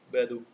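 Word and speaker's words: 百度: ठीक है, बैदू। ठीक है, स्पेलिंग देख लेना थोड़ा सा, बैदू है।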